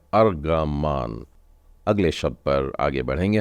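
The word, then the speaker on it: ארגמן: वही तो अर्ग वानी रंग जिसे कहते हैं उच्चारण इसका आता है अर्ग मान अगले शब्द पर आगे बढ़ेंगे हम लोग यह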